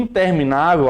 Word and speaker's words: interminável: Aqui, em interminável, a sílaba forte é a penúltima. Interminável é paroxítona.